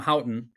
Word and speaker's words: Houghton: um uh my my guest today is Tom hton that's I pronounced that correctly yeah you did Crush good